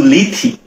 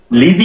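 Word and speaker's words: Lethe: তো এবার কি বলে দেখো, বলতেছে নো নো গো নট টু লিথি। আচ্ছা, লিদি কি? অনেক জায়গায় উচ্চারণ আছে লিড, অনেক জায়গায় আছে লিথি, অনেক জায়গায় আছে লিদি, যেটাই বলো সমস্যা নেই।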